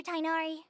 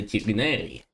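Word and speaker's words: Tighnari: Yes, Master Tainari. Я неправильно произнесли. Правильно не Тайнари, а Тернари. Я посмотрел. Поправляет очки. На самом деле произносится Тигнари.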